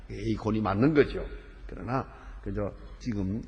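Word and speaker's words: εἰκών: 영어로 발음할 때는 아이콘이요. 헬라어 원문대로는 에이콘입니다. 에이콘이 맞는 거죠.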